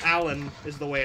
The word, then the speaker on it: Alain: his Discord but uh it's spelled like a l a i n but pronounced Allen it's weird but uh he made